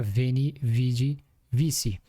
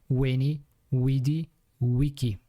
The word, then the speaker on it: veni, vidi, vici: Em português atual, parece que seria veni, vidi, vici. Mas em latim antigo, V na verdade era U. E o C era pronunciado como K. Então seria no final Weni, Widi, Wiki.